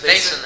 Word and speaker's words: Vaisnt: Is that how you pronounce it, Chris? Vaisnt, absolutely.